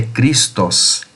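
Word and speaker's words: Χριστός: A origem do termo Cristo, né, nós falamos aqui, eh, a pronúncia é Cristos.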